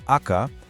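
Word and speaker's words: 赤: For the color red, you have the noun, aka, pronounced aka, that's the name of the color itself.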